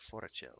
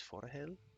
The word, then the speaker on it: Forochel: I always pronounce it Forachel. It's Forahel?